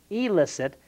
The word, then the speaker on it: elicit: But said quickly, Jim, that sounds alike, illicit, illicit.